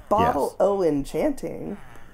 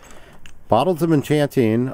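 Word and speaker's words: Bottle o' Enchanting: I know um but it's O Apostrophe right yeah yeah so it's an abbreviation for of uh so the they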